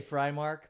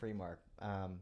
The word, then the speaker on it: Freimark: I say Frymark, but honestly, I grew up saying Freemark. When I was stationed in the military, I got stationed in Germany, and it's a German name. And I tried pronouncing it as Freemark over there, and the Germans were like, "We're not having it."